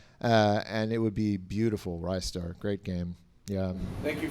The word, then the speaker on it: Ristar: Internally, it was Rystar. People say Ristar for whatever reason because they think it's wrist-related.